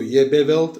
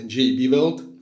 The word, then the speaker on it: JB Weld: Per cechi e slovacchi: non si legge JEBE Weld, ma "Je-B Weld".